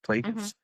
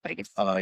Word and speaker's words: Plagueis: Plagueis. Plagueis.